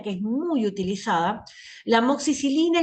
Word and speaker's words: amoxicilina: la gente consume normalmente le van a decir amoxilina porque no saben pronunciar bien la droga la droga es amoxicilina es una de las